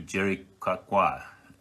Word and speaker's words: Jericoacoara: 300-kilometer downwind from a place called Fortaleza to Jericoacoara.